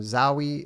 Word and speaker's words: Zowie: Thanks from Zowie, like Wowie, because everyone calls me Zoe.